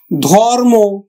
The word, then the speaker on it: ধর্ম: তাহলে আমরা উচ্চারণ করবো কিন্তু প্রাপ্ত প্রাপ্ত ধর্ম ধর্ম আমরা উচ্চারণ করব ধর থেমে যাচ্ছে।